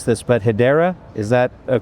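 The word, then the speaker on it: Hedera: And I'm going to mispronounce this, but Hideera, is that a correct way to say it? Yeah, Hideera is one that we also really like and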